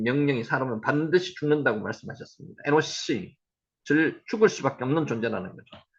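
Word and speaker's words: אֱנוֹשׁ: 에노스의 히브리어 발음은 에노시 앞에서 우리 계속하고 있습니다. 한번 해보세요. 에노시.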